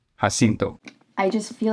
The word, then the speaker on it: San Jacinto: to do a reenactment of the Battle of San Jacinto, which involves cannons, and that's what you're going to see here.